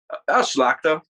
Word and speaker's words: Szlachta: So what's the American pronunciation of your last name? Szlachta. It's the same. Yeah, you said it perfect, man.